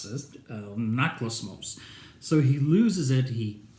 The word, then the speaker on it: Anaklusmos: I had to mark it so I wouldn't mispronounce this. Anaklusmos.